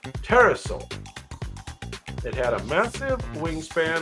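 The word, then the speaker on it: Pterosaur: type of petosa terrasaur you don't pronounce the P teraso it had a massive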